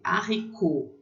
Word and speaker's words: haricot: A letra H, né, o H, não se pronuncia em francês, muito parecido com a gente, né? Então, lê haricot, haricot, feijão. Esse T é mudo no final, tá? Haricot.